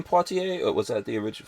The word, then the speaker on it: Poitier: It's actually pronounced Poitier.